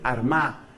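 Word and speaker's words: Armagh: sede de San Patricio fue Armá, que se escribe con GH al final.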